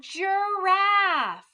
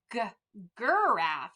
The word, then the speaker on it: giraffe: a picture of a giraffe do you hear that j j giraffe but if we didn't know that was a soft g we might say g graph and i'm like well